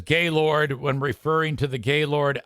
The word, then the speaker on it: Gaylord: It's spelled the same, but up here, the town is pronounced Gaylord. But if I were to walk into the Opryland Resort and Convention Center, I would not say Gaylord. I would say Gaylord.